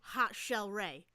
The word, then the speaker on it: Hot Chelle Rae: band bracelets that they were making that said Hot Chelle Rae and that is spelled H ha ha h o t CH